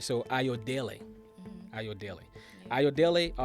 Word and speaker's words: Ayodele: Today, I have Ayodele. Ayodele. Ayodele. Ayodele. Yep. Okay. I was having a hard time pronouncing it. Ayodele.